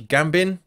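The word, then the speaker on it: Gbamin: gab gab bein done he pronounces Gambon Gambon I than no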